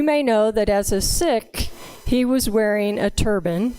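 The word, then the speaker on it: Sikh: from the sick tradition you may have heard that mispronounced of seek but it's actually sick so when I use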